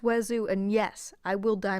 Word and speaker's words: oiseau: It's pronounced oiseau, and yes, I will die mad about it.